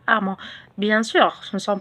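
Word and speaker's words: emment: Alors pour former un adverbe de manière, il faut un adjectif qualificatif au féminin plus le suffixe ment, M-E-N-T, ou bien amant, E-2-M-E-N-T. ولكن ينطق amant.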